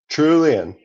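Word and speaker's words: Trullion: Trulion. Trullen. Yep. Got it. Like Julian. Okay, I got it. like trillion, like Julian. It could be like trillion with a U.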